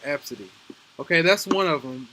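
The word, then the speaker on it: Abcde: name is pronounced absolutely even though it's spelled a b c d e it's pronounced absidy okay that's one of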